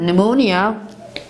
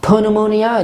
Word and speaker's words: pneumonia: we have the word pneumonia this is not panamunia it is pneumonia and mustafa for example